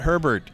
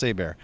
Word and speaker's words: Hebert: Not Herbert, Hebert, but it's pronounced Hebert.